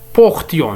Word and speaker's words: portions: إذن القاعدة الأخرى لدينا القاعدة سي في جميع الأفعال فإننا ننطق تي بدل اس خاصة عندما يكون لدينا نو وفو مثل تيون وتيي وهذا يكون غالبا في لومود سبجونكتيف. مثلا هنا نقول portions nous portions vous portiez